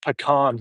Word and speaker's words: pecan: But yeah, no, I haven't had a pecan pie or how the Americans say it, pecan pie. In Canada, we call them pecans.